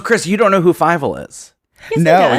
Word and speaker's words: Fievel: So it's spelled Fievel. So Fievel. Oh, I said Fievel.